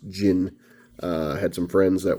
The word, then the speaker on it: Djinn: gin and that is gin it's pronounced uh the d is essentially silent you know it's a gin it's not a djinn or a din i believe now i've always heard it pronounced jin uh had some friends